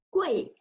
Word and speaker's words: 贵: Okay, the third one is fourth tone. Fourth tone, so you need to count until fourth tone. So 归, 鬼, 鬼, 贵.